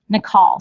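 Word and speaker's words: Naacal: And by the way, that's what I want to say, Nikal. So let me tell you how it's spelled.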